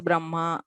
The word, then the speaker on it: Brahma: So first, very personally, I pronounce it as Brahma, Vanhihi, Anhikam.